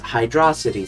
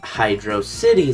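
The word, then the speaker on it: Hydrocity: and before we start yes it's pronounced hydrosity Zone like velocity not Hydro City Zone the main argument is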